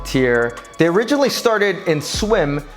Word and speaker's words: TYR: little unfamiliar to you t y r pronounced tier they originally started in